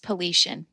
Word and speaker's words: Paulician: It's pronounced Paulician.